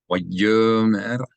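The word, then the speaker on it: וַיֹּאמֶר: Here the aleph is silent because this because this O vowel belongs to the yud. Right? Only time you pronounce aleph as a glottal stop is if there's a vowel directly above or below it.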